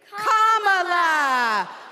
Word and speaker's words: Kamala: First, you say comma like a comma in a sentence. Then you say la like la la la la la. Put it together, and it's 1, 2, 3, Kamala.